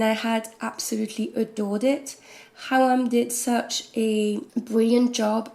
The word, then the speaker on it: Khawam: by Syrian translator René Hawa. I think that's how you pronounce it, because there's KH.